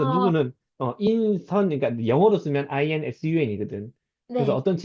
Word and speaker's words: 인선: 그래서 아 누구는, 인선, 그러니까 영어로 쓰면 INSUN이거든. 그래서 네. 어떤 친구는 인순이라고 부르는 애도 있었고, 아니야, 인순 아니고 인선.